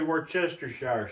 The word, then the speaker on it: Worcestershire: going to take some Worcestershire sauce. There's a lot of people that call it W sauce because they can't say it right. It's definitely Worcestershire sauce. That's never been even a question.